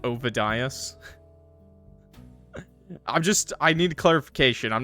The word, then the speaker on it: Ovidius: I'm not gonna go through a whole game again and say a character's name wrong. That's how I say it. Say it. Okay. Okay, we're good. OVIDIUS.